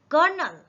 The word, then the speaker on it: colonel: इसमें देखिए एल है, एल को हम इसको प्रोनाउंस भी नहीं कर रहे हैं, तो ना तो ये कर्नल है ना कर्नल है, ये है कर्नल। जब इसका प्रोनाउंसिएशन हम करेंगे तो क के ऊपर थोड़ा सा आपको फोर्सफुली इसको प्रोनाउंस करना है, फोर्सफुली इसको पढ़ना है, स्ट्रेस दे करके।